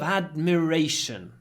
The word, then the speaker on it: admiration: Her eyes were full of admiration. Admiration. So the pronunciation changes quite a lot. Admire, the verb, admiration, the noun. Admire, admiration. Admire, admiration.